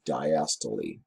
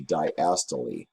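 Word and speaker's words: diastole: is relaxed it's called diast it's a word of German origin so we say the we we pronounce the e at the end to diast when the heart contracts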